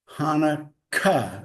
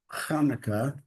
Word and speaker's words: Hanukkah: there because they emphasize Hanukkah. And they want to, what I read anyway, they put the two Ks in to emphasize the Ka, Hanukkah. And then the CH there is the Hanukkah.